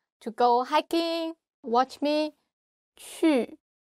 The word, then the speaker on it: 去: 去 you just like you want to kiss somebody. 去 and your tongue touch your teeth.